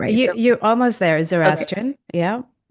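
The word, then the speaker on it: Zoroastrian: I give you full permission to help me pronounce it correctly. Uh, but let me try. Zorestron, I don't think I did that quite right. You're almost there, Zorestrian.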